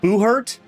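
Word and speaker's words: Buhurt: I I had totally forgot about um I believe you pronounce it Boohert.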